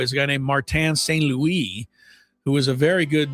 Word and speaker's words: St. Louis: It's spelled like St. Louis, but it obviously wasn't pronounced that way.